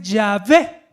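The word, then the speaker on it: Yahweh: en la pantalla y la pronunciación era más o menos así como yo la pronunciación cuando tú le tías cuando tú trataba de pronunciar las consonantes yagüe verdad entonces en latín cuando lo pronunció le agregó esas vocales ahora ponerse entonces suena yagüe algunos dicen ya ve ese es el nombre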